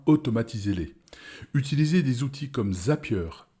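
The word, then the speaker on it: Zapier: temps et bien automatisez-les utilisez des outils comme zapieur Z a P i e r ou i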